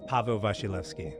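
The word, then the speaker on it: Paweł Wasilewski: Pavo Vashilski.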